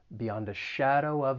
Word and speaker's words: beyond a shadow of: keep in mind that the article is just going to be pronounced as the schwa sound it's just going to sound like uh and then we can